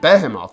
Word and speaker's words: Behemoth: __ ] except floer and the control sucked Behemoth which that's how you pronounce it by the way is one of